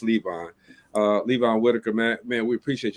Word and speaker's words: Levon: I've been saying Levon for all this time, okay, but I know it's Levon.